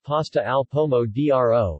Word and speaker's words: pasta al pomodoro: pasta al pomodoro pronounced pasta alpomo dro is an italian food typically prepared with pasta